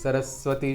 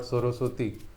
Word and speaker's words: Saraswati: Saraswati should be pronounced like that only, not Soroswati.